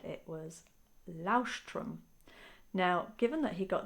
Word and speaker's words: Leuchtturm: done any German exams, I just don't think it's Lausch. Lauch. Alexa, how do you say lighthouse in German? Lighthouse in German is Leuchtturm. Leuchtturm. Leuchtturm.